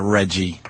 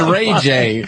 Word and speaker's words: Ray J: I don't feel like looking at Reggie. Sam. I didn't feel like it. First of all, it's not his name. Second of all, I didn't say his name. You call him Reggie. His name's Ray J.